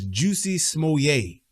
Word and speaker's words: Jussie Smollett: And I don't know why these people keep pronouncing his name wrong. It's Jussie Smollett. He's French.